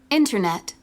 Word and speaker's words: Internet: with the CD Okay Internet Internet messages messages digital digital so you see all the three words carry their stress their primary stress on their first syllable internet messages digital column